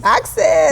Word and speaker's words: Auxais: It's Auxais. Auxais. Yeah, a lot of people want to say Auxais, Auxais, but my dad made it up, and he was very determined that our last name, people, is pronounced Auxais.